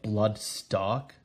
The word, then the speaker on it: Bloodstalk: I do like their pronunciation, Stark. So it sounds like Blood Stark.